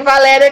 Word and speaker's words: Valéria: O seu não tem, mas tem Valéria que tem acento. Aí é no Lé.